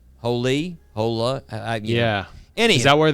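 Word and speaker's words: Holi: my first one uh I think you pronounce it holy Festival in India uh it's h o l i holy hola yeah any is that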